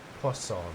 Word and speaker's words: Poisson: Poisson. Like croissant. In a weird sense, anyway.